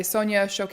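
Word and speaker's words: Sonia Choquette: that we were doing that the course by Sonia shoke is how you say her name yes it's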